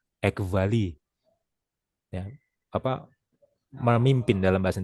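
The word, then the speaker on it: ἐκβάλλει: Ada yang bacanya Ekbali, ada yang bacanya Ekvali, tergantung dia pakai pronunciation yang mana ya. Tapi saya pakai pronunciation modern Greek ya, Ekvali.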